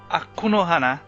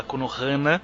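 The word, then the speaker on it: 悪の華: E a deste programa é As Flores do Mal, Akunohana, como é a pronúncia correta japonesa. A gente sempre fala Akunohana, mas o correto é Akunohana.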